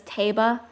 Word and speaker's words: Tiba: I wish it was Tiba. I know Age of Calamity pronounced it as Taba, but I always pronounce it in my head as Tiba, so that's just what I call him.